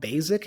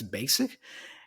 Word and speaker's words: basic: you're telling me that it's not basic it's basic and then she said yeah and then she went on to explain to me that usually in English nouns and adjectives that have the letter s are pronounced with an S sound so the word basic is an adjective so the S there has the S sound basic now words in English